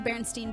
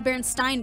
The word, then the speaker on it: Berenstain: first came out, and I'm still saying it wrong, the Berenstain Bears, it's the Berenstain Bears, but we all know what you're talking about.